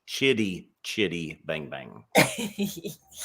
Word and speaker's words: Chitty: Chitty Chitty Bang Bang oh CH it's chit let me get that pronounced right for you Lynn Kitty with a CH Chitty Chitty Bang Bang I